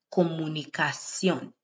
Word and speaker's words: comunicación: Alguna gente pasa mucho tiempo en los medios de comunicación. C-I-O with the accent N. Cion, comunicación.